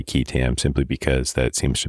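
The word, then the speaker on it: qui tam: this up The Whistleblower technical name is I pronounce it as ketam and it is spelled Q UI t a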